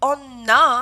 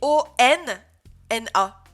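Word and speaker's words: おんな: Donc, je disais, dernière chose, faites attention, les syllabes en N, elles sont pas doublées avec un petit sou, mais en fait, elles sont doublées avec un N. Donc, Onna, hein, c'est O-N-N-A.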